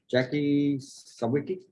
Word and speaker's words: Jackie Sawicki: Jackie Sawicki. Did I pronounce that right?